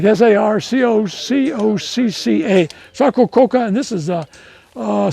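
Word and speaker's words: Sarcococca: ever hear sarco coca coca if you can spell it you get a free bottle of water that's hard it's like s-a-r-c-o-c-o-c-c-a sarco coca and this is uh uh salinas s-a-l-i-g-n-u-s notice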